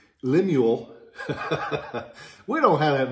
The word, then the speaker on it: Lemuel: will be marked l pomeroy because he was lemuel lemuel we don't have that name down here very much so i try to say it right but like raphael most people mispronounce it l-e-m-u-e-l lemuel uh pomeroy and it'll have his marking